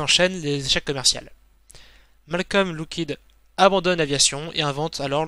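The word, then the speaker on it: Loughead: Car ils en avaient un peu marre que tout le monde les appelle Lughead, alors que ça se prononce, pour eux en tout cas, Lockheed.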